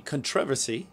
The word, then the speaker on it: controversy: Maybe I'm just trying to manufacture some controversy. Oh, I see. Controversy. Controversy. I think you put the emphasis on the wrong syllable right there.